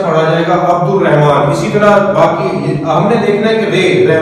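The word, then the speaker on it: عبد الرحمن: पढ़ते हैं अब्दुल रहमान जबकि लाम की आवाज ही नहीं साउंड ही नहीं आना है लाम का लाम तो साइलेंट है इसके अंदर तो लाम का साउंड यहां पर नहीं आएगा यहां पर पढ़ा जाएगा अब्दुल रहमान और ये मुश दद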